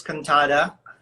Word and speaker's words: Cantada: my name is cantata for those so that it's easy for you to pronounce my name think the katana sword katana katana girl force and the